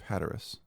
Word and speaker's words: Hatteras: What was the I'm thinking of Hatteras, right? That's how it's pronounced.